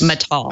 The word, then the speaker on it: Matal: Matal. I've heard multiple pronunciations.